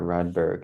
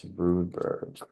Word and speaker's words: Rudberg: wrong for so long it's not redberg it's rudberg are you a real